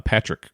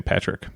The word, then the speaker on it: Patric: Frenchborn husband, uh, Patrick Creel. Some people said um his name was pronounced Patri, but I think it's Patrick.